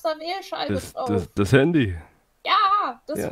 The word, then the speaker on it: Handy: Wie die Hand mit einem I dahinter. Hund? Hand mit I, Handy. Hand-I. Ja, nur zusammen ausgesprochen, Handy.